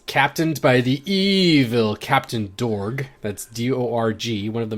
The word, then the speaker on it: Dorg: it's dorg though because pretty sure when i first when i first watched and i heard it pronounced i it sounded like torg to me which of course